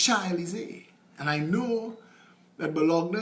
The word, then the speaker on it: Champs-Élysées: And in my mind, I pronouncing it how it's spelled, Champelisi. Well, everybody laughed at me that day. And I learned. It's not Champelisi, it's Champs-Élysées.